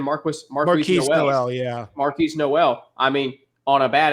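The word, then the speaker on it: Marquis Nowell: against Michigan State uh Marquise no how I pronounce his name Marcus Marquis yeah Marquis Noel I mean on a bad ankle 19 assists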